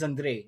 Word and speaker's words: Andriy: My actual name is Andriy. It's Ukrainian, but no one can pronounce it.